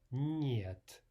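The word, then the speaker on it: нет: Again, let's look at the word niet. N is a soft N.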